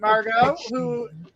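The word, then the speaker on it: Margaux: I'm not sure how to pronounce that name. Margot. Or Margot. Okay. The X is silent. All right, Margot.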